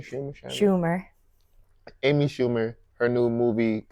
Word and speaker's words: Schumer: So today we'll be reviewing the new Amy Schumer, Scheimer. How you say her name? Scheimer. Schumer.